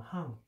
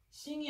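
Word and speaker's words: 行: 이거는 이제 행자인데 항이라고 읽어요. 여기서는 항. 싱이 아니야. 항.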